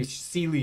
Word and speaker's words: Seelie: When we're looking at the Seelie and the Unseelie, for example, or the Sheelie and Unsheelie, depending on which pronunciation you prefer, they would be better